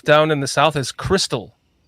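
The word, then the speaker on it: Krystal: in the south is Crystal with a K you ever you ever heard of that no KR y s t a l it's it's the same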